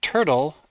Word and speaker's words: Turtl: video I'm going to do an overview of turtle app and that's Turtle it's spelled t r TL without an e so